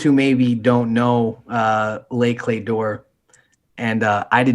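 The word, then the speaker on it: Les Clefs d'Or: even right like try it try it let's pronounce it um and for those who maybe don't know uh lay clay door and uh i did not know that until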